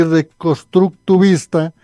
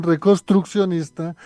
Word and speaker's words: reconstruccionista: ortodoxo conservador reformista y reconstructiva reconstructiva reconstruccionista corrijo la pronunciación reconstruccionista reconstruccionista para que podamos entender